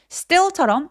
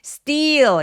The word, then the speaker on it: still: still처럼 S 뒤에 크트프 소리들, 된 소리 내주시면 쫀쫀한 느낌이 들고요. steal 이렇게 길게 말하면 뭔가 훔친 단어가 됩니다. 네, 그래서 still 이렇게 발음해 주세요.